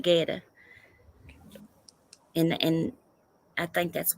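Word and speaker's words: goetta: hey Google it's called Guetta that's what it's called never heard of it it but it spelled it's got a it's gel g-o-e-t-t-a but they pronounce it Guetta and and I think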